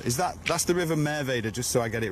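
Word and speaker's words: Merwede: Is that, that's the River Merveda, just so I get it right, is it?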